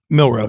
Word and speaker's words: Milroe: Milroe, yep.